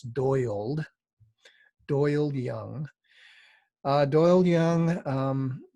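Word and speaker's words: Doyald: very interesting uh i wasn't sure how to pronounce this at first but it's doyled doyle young doyle young um was is an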